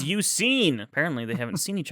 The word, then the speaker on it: Suicune: And then some random other guy is like, or Suicune. It's Suicine.